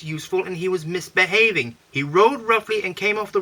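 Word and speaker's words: Hiro: He rode roughly and came off the rails and ignored all the warnings.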